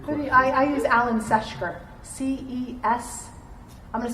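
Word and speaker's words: Ceshker: you, I use Alan Seshker. C-E-S. I'm going to spell this one time. Alan Seshker. C-E-S-H-K-E-R. Wait a second. Go slower. C-E-S. C-E-S-H-K-E-R. Seshker.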